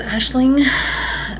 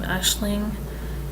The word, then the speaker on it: Aisling: The only thing I have with the name Aisling is the way it's spelled. I might spell it differently. I might spell it more the Americanized way and pronunciation way, because the AIS, I wouldn't think Ash.